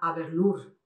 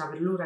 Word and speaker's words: Aberlour: O, por ejemplo, se ve esa Aberlour, que decimos Aberlour. Aquí no le damos el toque francés, es Adelaide.